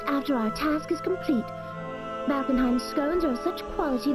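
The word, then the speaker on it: Valkenhayn: That's how you pronounce it, Valkenheim.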